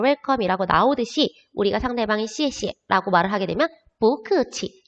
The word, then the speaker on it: 谢谢: 셰셰라고 말을 하는데 우리 이제 한어 병음을 배웠기 때문에 셰셰라고 말하면 안 돼요. 여기 나와 있는 거 이에에다가 시옷 발음, 이에에다가 시옷 발음, 시에시에. 똑같은 글씨가 반복됐을 때 두 번째는 경성으로 바뀝니다.